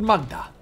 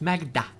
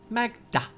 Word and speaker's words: Maghda: Toward Magda. That's not actually how they say it in this game. It's Magda. Magda. That's how the wizard says it.